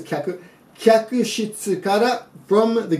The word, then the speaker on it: 客: Thank you.Kyaku shitsu could be pronounced kaku, in this case kyaku.